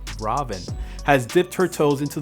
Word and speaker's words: Raven: a performer and magician caroline raven actually pronounced robin has dipped her toes